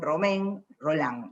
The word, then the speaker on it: Romain Rolland: partir del vínculo epistolar que él tiene con romain rolland digo romain rolland para que no quede arroz